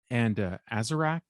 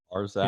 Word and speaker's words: Arzak: that were published as the Airtight Garage, and Azarak, is that how you say it? Arzak, his word maybe?